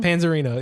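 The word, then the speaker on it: Panzarino: Panzerino? Panzerino.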